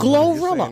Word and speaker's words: GloRilla: Yes, You're saying Glorilla.